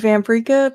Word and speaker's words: Vamperika: Uh my name is Vampria, pronounced like paprika because I am a spicy little vampire.